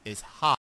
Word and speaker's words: Haupt: It's technically Haupt, but Haupt. And so just imagine being at the stage and you're being introduced, and then you have to immediately say it's hot.